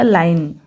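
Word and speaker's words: line: फिर एल आई एन ई, एल को पढ़ेंगे ल, आई को पढ़ेंगे आई, तो हो गया लाई, फिर एन को पढ़ेंगे न, तो हो गया लाइन, लास्ट में जो ई है ये साइलेंट होगा।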